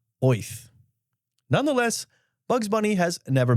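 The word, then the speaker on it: Oerth: oth yes this one I am pronouncing right it is actually pronounced that way oth nonetheless Bugs Bunny has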